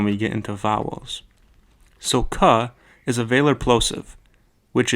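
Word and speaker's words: क: This letter is pronounced ka. An important thing to understand about the Nepali alphabet is that all consonants by themselves end in that sound.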